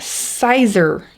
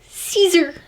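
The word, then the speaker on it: Siser: just a little funny it is not sizer easyweed or sizer htv it's caesar like caesar salad just learned that i've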